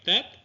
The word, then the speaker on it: Tet: Next, we have Tet and Tav. Both of these are pronounced the same today, somewhere between the English T and TH sounds.